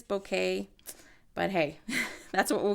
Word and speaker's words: bokeh: word some people say boka some people say bokeh apparently is a Japanese word and it is bokeh but hey that's what